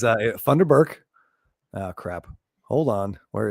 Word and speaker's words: Funderburk: Oh, right, and of course, is this replacing Funderbunk? Funderburk. Funderburk. Remember, it is Funderburk.